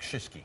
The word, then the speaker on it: Shiski: It's Kriski, but really it's pronounced more like Shiski.